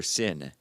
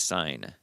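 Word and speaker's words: Seine: But they do have a little trace amounts of E.coli coli in their sin river, river sin, not sign, even though it's spelled sin.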